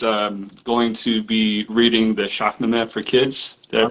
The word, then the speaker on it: Shahnameh: Arzia, he's going to be reading the Shahnameh for kids. Did I pronounce that correctly?